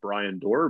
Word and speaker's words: Bryon Dorr: word and or under my name brian door but it's spelled weird b-r-y-o-n-d-o-r-r so both are